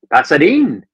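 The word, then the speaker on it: Pasarín: yeah that's why yeah because in Spanish the accent tells you which syllable to emphasize more so since the since the accent there on the I is on the last syllable that means you emphasize the in part so it's you've got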